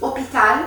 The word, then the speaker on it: hôpital: E aqui lembrando também que poderia ser um lugar que começa com H, porque o H é mudo. Não todos, mas enfim, ele é mudo em geral. Então, se fosse hôpital, por exemplo, à l'hôpital, é o A, L e apóstrofo.